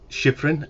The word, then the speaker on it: Shyfrin: My guest today is Edward Shiffrin. Have I pronounced that correctly, Edward?